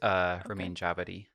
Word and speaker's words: Ramin Djawadi: Apparently, it's pronounced Ramin Djawadi.